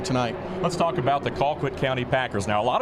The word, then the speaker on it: Colquitt: Let's talk about the Colquitt County Packers. Now, a lot of folks may say Colquitt, but if you ask the locals, it's Colquitt, and that's what I'm going with here tonight.